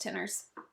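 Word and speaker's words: Tinners: got an apartment I know but it's just pronounced Tenors Tenors Trail apparently according to Jamie yeah will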